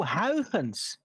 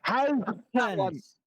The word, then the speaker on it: Huygens: Oh, Huygens. Yeah. Huygens. That's how you pronounce it.